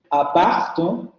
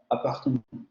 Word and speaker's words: appartement: pronunciación no es tan exacta, por eso confío un poco en mí, pero aquí sería appartement, appartement.